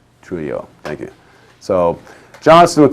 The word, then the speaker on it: Trujillo: his assassinations of DM, and I think it's Trujillo is how it's pronounced. Trujillo, thank you.